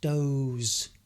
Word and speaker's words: does: Now, you may recognise this as does, which is the third person simple of do. So he does, she does, it does. But it's also pronounced doze. Doze.